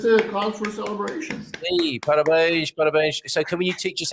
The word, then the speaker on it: parabéns: So parabéns. Don't parabéns. Don't say it like that, Mia. It's a cause for celebration. Hey, parabéns.